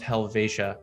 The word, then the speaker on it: Helvetia: like helvidia or uh helvetia uh but it's pronounced helvetia so that's one to know um as well